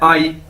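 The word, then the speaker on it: 阿姨: से मिलकर बना है, लेकिन इसको प्रोनाउंस कैसे करना है? आई। ठीक है, AYI, आई, आई, जिस तरह इंग्लिश का वर्ड है आई।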